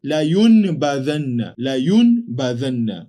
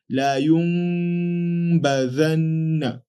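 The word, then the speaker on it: لا ينبذن: So now we could have said la yunbadhanna by doing the idhar of the gun of the noon, but that's wrong. So we could have also said la yunbadhanna by pronouncing a complete meme, but that's wrong as well. Rather, we are going to pronounce this meme in a subtle manner while still observing gunna.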